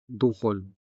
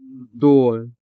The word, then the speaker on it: duhol: The stress falls on the first syllable du, making the second syllable hol unstressed. And since the consonant ha is in this unstressed syllable, it sounds weak or even disappearing when spoken in informal settings.